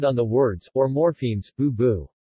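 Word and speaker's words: 不: In other cases, bu is pronounced with fourth tone.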